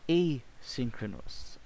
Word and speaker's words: asynchronous: Next, asynchronous. Ayan. Yun po pala yung tamang pag-pronounce natin.